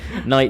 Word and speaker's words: knight: spell that at night knight is always a tricky one because this has a silent letter in front of it k-n-i-g-h-t so you know